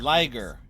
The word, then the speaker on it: liger: I said liger. People, like a lion and a movement, tiger. This took me a second to realize how that was supposed to be pronounced.